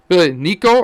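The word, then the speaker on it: Neco: bit of a a nico pulsar run here is it nico or neko what is he oh he's it's nico he's from wales i don't think it's pronounced differently ah no one of ones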